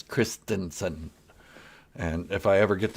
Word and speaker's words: Christensen: baby that's right christensen everybody mispronounces that it's not christiansen it is christensen and if i ever